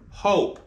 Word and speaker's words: hope: And if you add a silent E to the end of hop, you get the word hope.